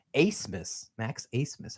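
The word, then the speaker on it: Abmas: our things right his last name is actually pronounced acemus Ace pretty interesting name not a bad name considering his potential to hit some big time shots right ace Miss Max Ace Miss how about that all right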